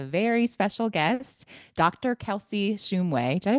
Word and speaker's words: Shumway: Kelsey Shumway. Did I pronounce it correctly? Shumway? Shumway, but it's close Shumway.